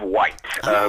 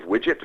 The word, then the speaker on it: Wight: We were on the Isle of Wight, very which nice. I never experienced before. I was pronouncing it the Isle of Widget for a couple of days before Excellent.